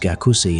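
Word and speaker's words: 学生: For example, the word for student, written as shusheng in Chinese, is pronounced gakusei in Japanese, but hagseng in Korean, illustrating how shared influences have diverged over time.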